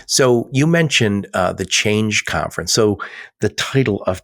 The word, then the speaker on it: CHAINge: But change is spelled C H A I N G E. So like like supply chain but also change.